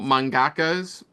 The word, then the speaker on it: mangakas: Yeah, no, obviously that's a common debate online is male anime or male mangakas. Is that the right term? Mangakas. Manga. You said it right.